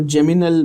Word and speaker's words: geminal: वन इज जेमाइनल, बहुत लोग उसको जेमिनल भी कहते हैं, जेमिनल भी बोल सकते हो, ठीक है? स्पेलिंग ध्यान से देखना, क्या लिखी है स्पेलिंग? GEMINAL, ठीक है? जेमिनल और जेमाइनल।